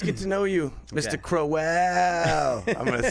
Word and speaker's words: Crowell: no it is yeah everything except the how you pronounce my last name it's crowell crowell yeah i like that